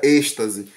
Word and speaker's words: êxtase: e o êxtase né o nome é uma escreve assim mas falar um pouco estranho mas se pronuncia êxtase então então é pessoal